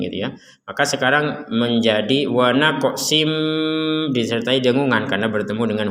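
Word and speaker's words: ونقص: Kemudian ada tanwin bertemu dengan huruf mim, maka kita masukkan tanwinnya kepada huruf mim sehingga yang awalnya tulisannya wa naqsin, sin ini tanwin, kita bacanya sin gitu ya.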